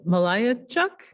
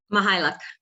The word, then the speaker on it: Mychajluk: Mychajluk? No, not even close. Don't worry, nobody gets it right. So say it properly for us for the record. Mychajluk.